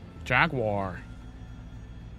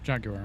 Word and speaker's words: Jaguar: Jaguar. Or Jaguar, as it's actually pronounced.